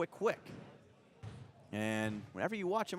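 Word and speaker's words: Kuek: So 2 coming up for Quick, and his name is spelled K-U-E-K, K-U-E-K, but it's pronounced Quick.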